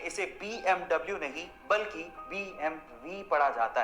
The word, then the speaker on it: BMW: In fact एक सर्वे के अनुसार 95% तक लोग इसे BMW ही पढ़ते हैं, लेकिन एक्चुअली इसे BMW नहीं पढ़ा जाता। इसका सही उच्चारण है BMV।